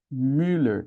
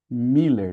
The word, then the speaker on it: Müller: Müller, que no Brasil a gente leva, escorrega mais pro I e fala Miller, não é? Ninguém fala Müer, acaba assimilando mais com o I.